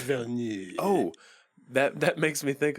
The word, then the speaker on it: Villeneuve: I believe it's pronounced Villeneuve.